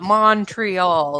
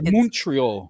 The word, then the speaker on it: Montreal: And it's not Montreal. It's Montreal. Montreal, like money.